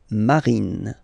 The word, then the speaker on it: marine: E, okay, bleu, bleu, bleu, and then marine, marine, final E, not pronounced, bleu marine, okay, here, quite easy,